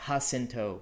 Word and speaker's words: Jacinto: I know that Jacinto would be a very authentic pronunciation, but in this universe, we're not Earth. We're here on Sarah. So pronouncing that as Sierra, pronouncing Jacinto as Jacinto, it's a little bit